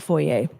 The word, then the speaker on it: foyer: It's foyer, not foyer.